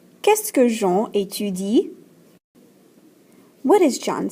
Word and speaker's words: qu'est-ce que: So when we pronounce this question word right here, it's pronounced qu'est-ce que. Be careful, not est-ce que, but qu'est-ce que. There's a que sound in front of it.